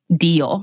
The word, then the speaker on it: Dio: And how did you say it? Dio? Dio, yes. Dio.